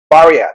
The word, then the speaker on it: Barya: So I'd like to introduce Rod from Barya. Did I pronounce that right?